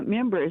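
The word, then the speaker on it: Mimbres: And I want to go to Meimbres, New Mexico. Hope I said that right. KNW. Let's check in with Sandra. Sandra, go right ahead. Yeah, Sandra. And uh Members, you said it right.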